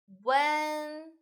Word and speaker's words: 问: attention this one actually is oo and tagalog when so when first time when when very good